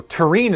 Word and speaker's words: tureen: Or did your brain just go, Tureen is a word that rhymes with teen, I'm going to say it out loud?